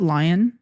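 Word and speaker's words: Lyon: we spent at um is it lion yeah lion okay because it's spelled l y o n yeah that's how you say lion that's the other spelling of L I O N is Yeah.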